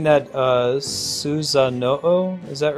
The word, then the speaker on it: Susanoo: Is it, should I be pronouncing that, Susanoo? Is that right? Yeah, the legendary swordsman who fought Orochi. Exactly, Sornas. Hey, thanks, game. It's Susanuo? Uo, not Oo.